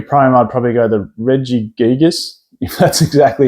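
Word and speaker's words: Regigigas: to pick a prom I'd probably go the Reggie gigas that's exactly how you pronounce it only $13.40 is current market price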